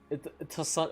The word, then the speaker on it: Toussaint: they're like it's like Toussaint is pronounced the way you would say croissant, croissant, croissant.